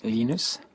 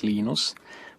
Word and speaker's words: Linus: i speak swedish it's venus when i speak finnish it's linos when i speak english it's linus and i really don't